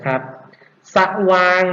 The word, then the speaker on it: สว่าง: ปัก นิชนีย์ นะ ครับ สว่าง นะ ครับ สอ เสือ นะ ครับ ออก เสียง อะ นะ ครับ แต่ ไม่ มี สระ อะ ให้ เห็น จึง เป็น คำ ที่ ไม่ ประวิสรรชนีย์ ครับ ต้อง ต่อ ไป กระโดน